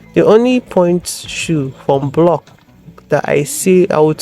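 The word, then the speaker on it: Bloch: Next shoes are blocks. I used to call them blotch before, until I now learned the correct pronunciation that it's block.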